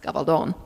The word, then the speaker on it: Gabaldon: a Spanish name and were we speaking Spanish it would be pronounced gavaldon hence the long o in the last syllable uh but uh you